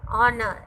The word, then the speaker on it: honor: Honor, H is silent, so beginning with a vowel sound.